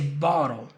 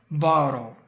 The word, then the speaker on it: bottle: Just compare this word with little. You say little, just like you say bottle. Little bottle.